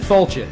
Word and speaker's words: Failte: Tell everybody how we pronounce it one more time, Dave. Failte.